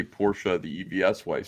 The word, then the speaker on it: Porsche: the real way the actual way let's say Porsche which is uh correct way which is of course I got the EVS one yeah but that's not that's not what Americans do we don't pronounce foreign things properly we've we've called it pours for the entirety of my life and we call Adidas